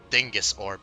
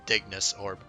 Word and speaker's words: Digus Orb: banners oh man also I always think this is pronounced Dingus orb but it's actually digus orb I how many of